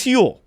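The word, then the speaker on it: Huel: hugely with that is hule that's why I talk to about hule hu it's spelled h l like fuel but with an H uh it's a complete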